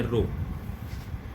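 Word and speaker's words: ρ: उस कांस्टेंट को प्रोनाउंस करते हैं रो, L/A.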